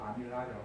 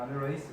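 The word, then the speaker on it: amylase: 그래서 근데 나이 드신 교수님들은 이걸 아직까지도 아밀라제라고 하셔. 나중에 대학 가서 보시면 이제 교수님들이 좀 나이가 좀 젊은 교수님들하면 이렇게 뭐 바로 원어 발음대로 아밀레이스 뭐 이렇게 하겠지만 나이 드신 한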